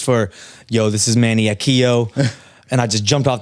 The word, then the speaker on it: Akiio: It's Akiio.